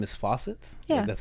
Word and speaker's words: Fawcett: reason is it verified that his name is Fawcett yeah that's how you pronounce it yeah okay so this gentleman was